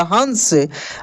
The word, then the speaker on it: हंस: ये ऊपर सब में न के रूप में उच्चारण हुआ है। किसमें? न के रूप में उच्चारण हुआ है। जैसे लंका, लंका, कंस, कंस, हंस, हंस बोलकर भी देखिए न का उच्चारण होगा, हंस।